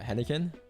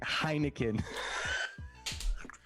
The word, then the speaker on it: Heineken: your dad drink uh henniken henneken handy cane is that how it's pronounced heinek heineken leave me alone please it's